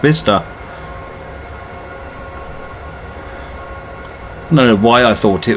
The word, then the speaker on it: Bicester: you know what I've always thought it was by sister and I kept getting corrected to say no it's pronounced Vista know why I thought it was bitter pronounced